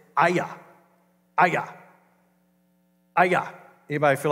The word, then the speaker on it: Ai: It's a tiny village, and it's called Aya. It's spelled A-I, and for years I pronounced it I or A-I, but actually the way you pronounce it is Aya.